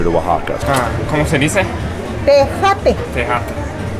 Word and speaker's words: tejate: Tejate. Tejate. Es como la tecate, pero es con J. Tejate. We're gonna try some, not tecate, tejate.